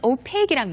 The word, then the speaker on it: opaque: opaque, 그 발음이 맞아요. 정확한 발음이지만 남자분 노르 같은 경우는 오빡이라고 했어요. 그러니까 오빡이라고 했던 건 opaque이란 말이에요.